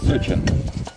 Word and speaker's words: сочен: Сочен. Сочен, да, у нас говорят сочен. Ага. Ударение-то у нас, видите, другое чуть-чуть. Да. У вас на первом слоге, а у нас на втором.